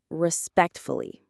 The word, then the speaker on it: respectfully: The main stress is on the second syllable, respect, fully.